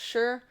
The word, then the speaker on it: shire: is chatting he's live the Suffolk Shire is pronounced sure but their way you American cousins of mine say it is a giggle we'll get there in